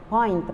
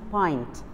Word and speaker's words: pint: described you know what the name of of point by the way it's pronounced pint do you know what the meaning of the